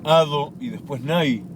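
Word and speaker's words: אדני: Dalet, Nun, Yud y que se pronuncia Ado y después Nai, que es el nombre, graciosamente, que pronunciamos cuando leemos el primer nombre que dijimos.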